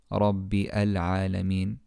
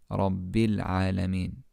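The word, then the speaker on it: رب العالمين: But we don't say Rabbi Al-Alameen. Following the rule we just mentioned, here the Hamztul-Wasl in Al-Alameen won't be pronounced. We say Rabbil Alameen.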